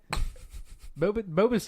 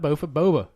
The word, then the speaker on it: boba: Boba's huge in the Asian Bofa, community. bofa, Not bofa, boba tea.